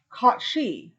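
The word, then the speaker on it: Cait Sidhe: a a bear cat called the cot she and it's spelled c a i space s-i-d-h-e translated to fairy cat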